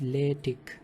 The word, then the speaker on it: LaTeX: So it is actually pronounced as LaTeX, and it is a document preparation system to produce some professional looking documents.